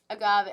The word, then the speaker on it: Agave: Next And is Agave. Agave. Oh, it is said like the thing.